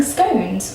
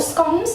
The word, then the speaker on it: scones: today we are making scones or scones depending on how you say it i say scones and